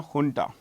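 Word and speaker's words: junta: by the military ha this J is pronounced H remember this ha okay we found a dance the jarandi dance ha folk dance. So this is honta here and u so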